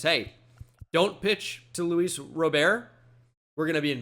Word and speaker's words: Robert: sudden but yeah it's it's Luis Rober that's how you say it in Cuba and during his his uh introductory press conference like is it Robert which obviously it isn't he's like I I